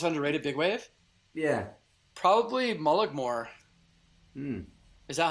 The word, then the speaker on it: Mullaghmore: Probably Mullaghmore. Is that how you say it? Yeah, Mullaghmore, yeah.